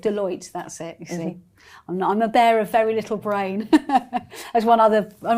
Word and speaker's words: Deloitte: There were 80 of, senior business individuals, everything from kind of Apple to I'm not sure if I can pronounce this right. Deloitte? Deloitte.